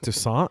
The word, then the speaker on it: Toussaint: Is it Toussaint?